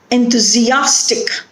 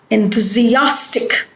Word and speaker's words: enthusiastic: Enthusiastic. Here the stress is on a. Enthusiastic.